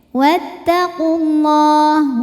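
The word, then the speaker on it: وَاتَّقُوا اللَّهَ: Lam pada lafaz Allah atau lam jalalah dibunyikan secara tafkhim. Karena huruf sebelumnya berbaris dhammah, maka dibacanya tebal. Wattaqullah.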